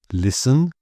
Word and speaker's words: listen: Often the T here in words like this are just ignored or very underplayed. So some examples: listen, whistle, castle, soften, and bristle.